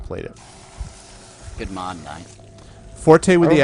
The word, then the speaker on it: forte: I have not played it good mod ni Forte with the accent the accent on the E